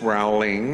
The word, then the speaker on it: Rowling: the queue would say oh miss rowling as they would say her name wrong usually um miss raleigh i have this for